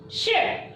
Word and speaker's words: should: Now, all of you pronounce it again. Wood, could, should. So, which letter is silent here while reading? Which letter is silent here while pronouncing? It is L. L is silent here.